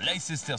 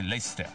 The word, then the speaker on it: Leicester: je vous emmène la l sister square prononcé lister l sister Square est